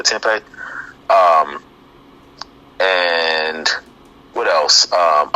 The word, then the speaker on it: tempeh: i think it's called tempe tempeh i really pronounce it tempi or tempeh um and what else